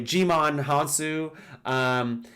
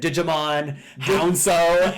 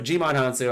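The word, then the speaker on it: Djimon Hounsou: Captain Marvel as well, I said Digimon Hansu, and people called me out and they ripped me apart for it. So Jimon Hansu, I'm pretty sure that's how you say it.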